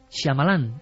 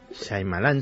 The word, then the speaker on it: Shyamalan: ¿cómo se pronuncia? Shyamalan, el director. Shyamalan, sí.